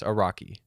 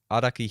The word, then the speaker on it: Araki: you pronounce it in the west i guess a rocky how do you pronounce it in the east uh i mean his full name would be araki hirohiko jesus that's a mouthful um okay araki